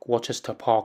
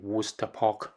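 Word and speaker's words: Worcester Park: 候咧，都可能係讀 Worcester Park 啦，咁實際上正確嘅發音咧係 Worcester Park。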